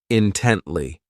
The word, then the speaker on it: intently: This adverb has 3 syllables, and the stress is on that second syllable, intently.